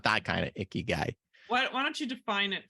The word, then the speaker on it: ikigai: types of conversations related to this but your icky guy did I say it right yeah and not